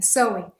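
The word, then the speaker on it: Samhain: feriado Celta chamado sou embora a gente escreva s a m h a i n a pronúncia é s não é sem sewing e é um um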